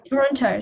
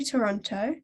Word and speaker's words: Toronto: say it is like Toronto which is basically without pronouncing your t's like that's how people